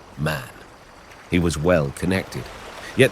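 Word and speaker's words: Mahon: He had a Roman nose, a snow white, long beard, and his name was M, but he insisted that it should be pronounced man.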